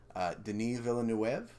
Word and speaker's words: Denis Villeneuve: made pretty recently 2016 and I'm going to pronounce this french-canadian director's name Denis Villeneuve yes didn't even want to wave one of